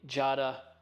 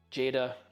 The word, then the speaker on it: Jada: As you can tell from the description, today we are checking out the Jada Jada. You can pronounce it either way you like.